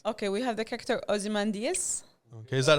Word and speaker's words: Ozymandias: you now perfect okay we have the character ozymandias okay is that how you say his name